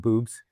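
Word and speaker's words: Bubs: It's called Boobs? Yeah, B-U-B-S. Okay. Yeah, okay. but pronounced boobs, I guess.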